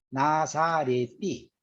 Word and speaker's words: 나사렛띠: 나사렛이라고 할 때 나사렛띠입니다. 나사렛띠 디귿은 띠니까요. 나사렛띠. 우리는 나사렛이라고 발음하는데 나사렛띠라고 발음하고요.